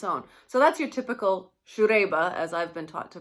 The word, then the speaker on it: Siegerrebe: drink on its own so that's your typical shoe daiba as i've been taught to pronounce it but this one the first time